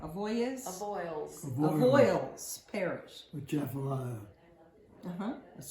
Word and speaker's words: Avoyelles: Moreauville was a small community located on the Bayou des Glaces in Avoyelles. Did I say it right? Avoyelles?